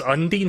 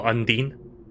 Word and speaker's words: Undine: so way as Undine how you're supposed to say that what I've been calling like an undertale the character of the same name I've been going online no Undine unless they are pronouncing it wrong I don't know now